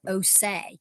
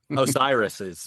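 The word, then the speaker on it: Orsières: Rs and S's, but it's just called Oay, which I remember because it's O say. Can you see? So that helps me remember the name up.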